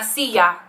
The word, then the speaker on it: silla: don't mind the j you could just pronounce the double l like a y la silla perfectly fine people will